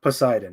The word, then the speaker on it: Poseidon: to pronounce it let me see how to pronounce that man Poseidon Poseidon yeah that's how you say it's a Greek